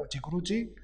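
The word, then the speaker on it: udigrudi: Rocha lo llamaría uchigruchi, jugando con la pronunciación portuguesa de la palabra inglesa underground.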